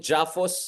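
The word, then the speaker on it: JAPHUS: And in the past two years, you have this emergence of this trilateral, I call it Jaffos, so that it rhymes with AOS Japan Philippine US trilateral framework.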